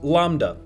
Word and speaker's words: lambda: This acceleration appears to be driven by the repulsive energy of space itself, so-called dark energy, which is represented by the Greek letter L, pronounced lambda.